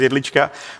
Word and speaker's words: Jedlička: Let me just fix one more thing, one more thing here actually, which is not just my pronunciation, my my surname, which is Elicha, but but also the fact we're not micronation.